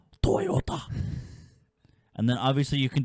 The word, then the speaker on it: Toyota: Okay, it's pronounced Toyota.